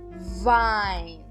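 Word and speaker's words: Wein: Z próximo exemplo Vine Vine então observem novamente Eu Estou pronunciando o e i aqui como a Vine próxima palavra bem curtinha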